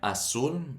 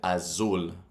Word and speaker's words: azul: And then azul, notice I didn't pronounce it azul. I didn't pronounce it like a Z.